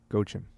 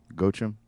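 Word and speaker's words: Joachim: cofler I think it's gim gim pronounce it with a G not a j even though it's spelled with a j j o a c h- i m in Italy anyway joim go him our friend in Italy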